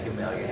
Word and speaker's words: Gamaliel: Yeah, Gamaliel.